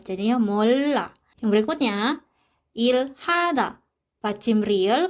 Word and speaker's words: 몰라: Nah, selanjutnya 몰라. Bacim real ketemu dengan huruf konsonan, jadi kita bacanya ke L. Jadinya 몰라.